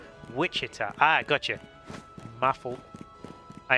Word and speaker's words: Wichita: It's pronounced Wichita.